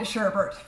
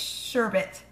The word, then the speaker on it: sherbet: sure bit sherbert see I've called it sherbert hmm my entire life it's sherbet sure someone give me